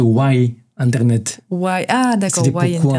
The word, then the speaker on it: Ynternet: Parce que c'est avec un Y à la place du I. C'est un jeu de mots, c'est Why Internet.